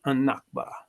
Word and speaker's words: an-Nakba: Palestinian Muslim and Christian Arabs consider this day the El Nakba, pronounced An-Nakba, the catastrophe, whereby they were